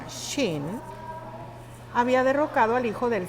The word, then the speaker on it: Qin: rey brillante de jeans que se escribe q y n se escribe kim pero se pronuncia sin había derrocado al hijo